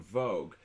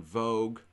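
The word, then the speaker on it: Vogt: written by a.e von vogue v-o-g-t uh i'm pretty sure it's pronounced vogue and that was published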